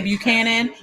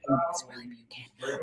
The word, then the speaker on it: Buchanan: I'm from Ohio, so I say Buchanan, but I know the proper way to say it from Nashville is Buchanan, right? But it's really Buchanan.